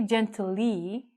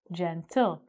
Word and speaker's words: gentle: If we look at this word, gentle, we don't say gently, but because it's L-E together, this is going to make another syllable sound. So we say gentle.